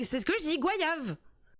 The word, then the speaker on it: goyave: Mais c'est ce que je dis, goyave. Voyage. Non. On retient la définition. G-O-Y-A-V-E. D'accord, ça s'écrit comme ça, goyave.